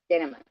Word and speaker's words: Didymus: Didymus.